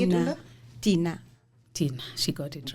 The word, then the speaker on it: Thinah: Thinah.